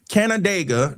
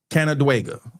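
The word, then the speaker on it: Canandaigua: Canadega, New York. Canadega. I I looked at the pronunciation pronunciation still got it all crazy.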